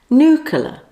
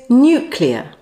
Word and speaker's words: nuclear: At number 5, the next badly pronounced word is nuclear. Nuclear. As before, you have less than 10 seconds to guess the correct word and pronunciation. Clue? Very powerful. Time's up. The correct word is nuclear.